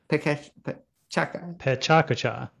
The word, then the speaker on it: PechaKucha: Let me hear your pronunciation. I say PechaKucha. PechaKucha.